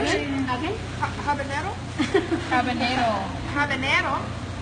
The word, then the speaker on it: habanero: Habanero? How do you say it? Am I saying it wrong? Yeah. Habanero.